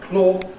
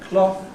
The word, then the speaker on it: cloth: So ‘cloth’ has changed to , ‘cough’ [ kɔːf